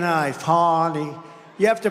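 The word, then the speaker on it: Fani: it fonny it's called Fanny you have to pronounce fny I don't know how she get she should add a little u in there someplace if she wants people to call her no her and her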